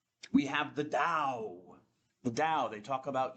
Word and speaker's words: Tao: Sometimes you'll see it spelled with a T, but it's kind it's pronounced as Dao. I'll say Dao or Tao.